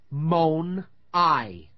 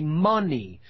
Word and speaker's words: money: The word money. Mon-I. Now that isn't how we pronounce it. We say money.